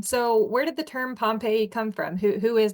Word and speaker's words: Pompe: Dr Johannes pompe or if you're Dutch or european uh you might hear it pronounced Dr Poma um and he first